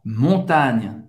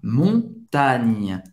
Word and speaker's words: montagne: À la montagne. Na montanha, à la montagne. Você pode perceber que acaba no GN, né? Não, o E no final não dá para ouvir, não se pronuncia.